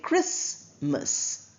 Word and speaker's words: Christmas: T is clearly pronounced when we refer to Lord Jesus Christ. But when we talk about the festival we don't say Christmas. We say Christmas. T is silent.